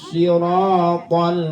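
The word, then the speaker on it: الصراط: Ya, karena tidak sedikit orang yang membaca ihdinas shiratal mustaqim itu hanya itu hak kecil. Ihdinas biasa baca begitu. Padahal situ adalah hak besar, sehingga bacanya harus benar dipentogan ke hati.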